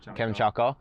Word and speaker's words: Kamchatka: Kamchatka.